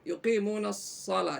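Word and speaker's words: يقيمون الصلاة: Nah, huruf shad itu berkeluarga dengan huruf shin. Jadi dibacanya tinggal di O-kannya sedikit. Jadi ya si menjadi sa. Muni yuqimunas shalah. Jadi bukan sya.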